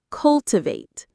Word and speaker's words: cultivate: The stress is on the first syllable. Cultivate.